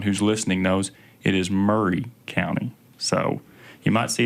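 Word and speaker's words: Maury: there if you see the county you'll probably pronounce it Mari County just so everyone who's listening knows it is Murray County so you might see it as Mari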